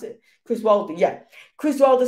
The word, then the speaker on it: Chris Wilder: Is that how you pronounce it? Chris Wilder, yeah.